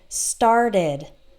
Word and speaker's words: started: word started okay so start has one syllable in the present and then in the past started started started has two syllables or decide ends in